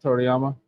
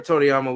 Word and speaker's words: Toriyama: say his name again I'm I'm horrible Akira torama yeah Akira Toriyama we gonna pay homage to him on this